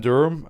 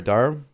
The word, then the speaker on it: Durham: Uh Sam Durham uh I thought he was uh really good. Sorry, Darham is how you pronounce it.